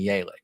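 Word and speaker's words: Yelich: definitely down yeah to make sure that we're pronouncing it correctly like christian yalick it's obviously yalick right that's my favorite one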